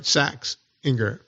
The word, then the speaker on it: Saxinger: I saying it right saxinger yeah if you the way you first said it would be in German American saxinger yeah SX call me